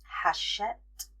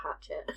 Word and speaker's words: Hachette: HarperCollins, Macmillan, Simon and Schuster, Hachette Book Group 1. I definitely would have pronounced that hatchet. Yeah, it's thanks to someone finding out on TikTok that it's not pronounced that way.